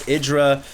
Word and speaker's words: IdrA: Idra currently... oh, by the way, guys, his name is pronounced Idra. Sometimes I pronounce him Idra. I know it's wrong, but yeah, his name is Idra.